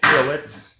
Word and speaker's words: fillets: uh these are called fillets fillets and that's spelled f i l it's not a filet it's a fillet and it's actually um